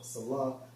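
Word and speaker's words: Selah: Now, when you go into that term Salah, because you see that term in Psalms a lot, in Strong's H5542 pronounced as Salah, which means a technical music term, probably showing pause and interruption.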